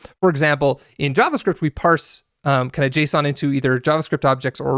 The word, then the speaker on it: JSON: And then as a final note, I pronounce JSON, right, J-S-O-N, J-S-A-N, Leviosa, but some people do pronounce it Jason, and they're wrong. I'm just kidding. People pronounce it however they want, but I do say JSON.